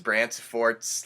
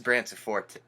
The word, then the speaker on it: Branciforte: Brancifort's last name. That is her name, Mrs. Brancifort, not Mrs. Branciforte.